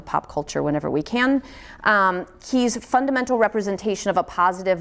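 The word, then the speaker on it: qi: That word is key, which is Q-I, pronounced K-E-Y.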